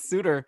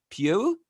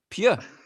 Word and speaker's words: Suter: learned today that Pius Suter, that's not actually how you pronounce his name. Apparently, it's Pew or Pew, like, and like the S at the end is silent.